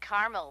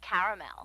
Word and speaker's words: caramel: what I said Tina actually you said caramel when it's pronounced caramel can't we just call